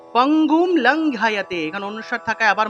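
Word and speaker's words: পঙ্গুং: অনুস্বার থাকলে মনে রাখতে হবে এটার সংস্কৃত উচ্চারণ হলো ম।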